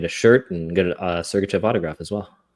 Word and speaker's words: Sergachev: the trade for Mikhail Sergachev. And Tourné responded to, I believe it was Brogan Houston with the Deseret News saying, well, it rhymes with pucking right.